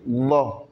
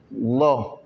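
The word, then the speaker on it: الله: Le Allah, le la de Allah est toujours prononcé par ce qu'on appelle at-tafkhim. La bouche est enflée et il y a le vent dedans. Bon, regardez, Allah. Même la langue est enflée dans la bouche.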